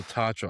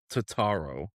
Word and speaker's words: Tatro: Well, I think you added a couple syllables to his name, but anyways. Jimmy. Jimmy Tatro. It seems like Oh, Tatro. I thought it was Tataro.